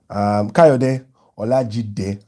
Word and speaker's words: Kayode Olajide: Kayode Olajide, I give him his proper Nigerian pronunciation, says, Ade, correct guy.